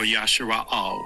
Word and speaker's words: Israel: There is something special about you, Israel, or Yashara'al. When I say Judah, Yahwadah. That is the ancient pronunciation of the word.